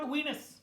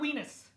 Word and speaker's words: Venus: there's another planet it is called wenus it is called Venus I mean I know sometimes my accident people are thinking no no isn't it called Venus no it's Venus okay it's it like rhymes with penis so just remember so